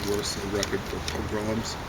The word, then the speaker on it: pogrom: Pogrom. Or pogrom, they used to people. I think it's mispronounced. I think accent the second syllable.